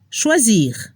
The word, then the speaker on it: choisir: Para la pronunciación se debe escuchar un poco la R al final de los verbos: finir, choisir.